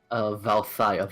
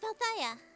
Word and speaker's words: Valthia: Oh, no, it's pronounced Valthia. Valthia.